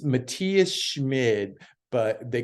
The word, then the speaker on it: Matthias: Well, it's actually Matthias. It's Matthias Schmid, but they call him Matty because there's the Matthias Schwab from Austria that plays too.